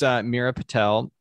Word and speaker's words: Meera Patel: So this is Meera Patel. Am I pronouncing that correctly?